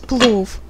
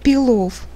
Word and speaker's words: плов: плов с кусочками говядины мой муж кстати не может повторить за мной правильно и сказать плов он всегда произносит peel off до меня он этого